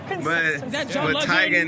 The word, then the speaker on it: Teigen: general she's keeping it I still will say Teigen but so do you want us to say we want to get it right or Saiga Teagan okay for consistency we're gonna Tegan tagging is the official like real authentic Norwegian name hello what are you